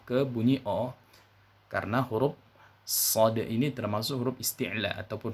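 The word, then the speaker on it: ص: ini yang pertama adalah pastikan dalam mengucapkan huruf sofirnya ataupun dosisnya telah bunyi terlebih dahulu dengan cara menebalkan bunyi desisnya ya Bunyi desisnya harus terdengar tebal tidak sama dengan bunyi desis pada huruf Sin Jadi huruf shod itu cara menebalkan dosisnya yaitu dengan cara mengangkat pangkal lidahnya ke atas seperti itu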